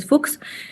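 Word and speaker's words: Fuchs: crónica vez bots fox fox la h no se pronuncia fox y si puede estar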